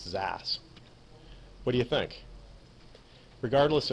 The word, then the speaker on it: xAAS: service I like Zas X is a service pronounce Zas what do you think